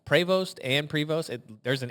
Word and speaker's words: Prevost: I've heard it pronounced Prevost and Prevost.